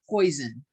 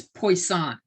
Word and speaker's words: Poisson: And it's not poison. It looks like poison. It's Poisson. Poisson. That's how it's pronounced. It's some French guy.